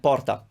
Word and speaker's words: porta: it didn't sound scary like porta porta just glide over the like porta you know in english